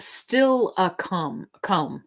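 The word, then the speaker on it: Steilacoom: It's pronounced still a cum. Still a cum. Okay. Kind of like Tillicum. who was an orca whale. If you don't know, it's okay. Stilicum.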